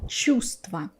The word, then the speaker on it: чувство: So it happens in other words too, like чувство. Again, I'm skipping the letter v.